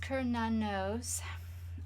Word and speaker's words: Cernunnos: Cernunnos, pronounced Cernunnos, also known as Hern, is a Celtic stag god who represents connection to the earth.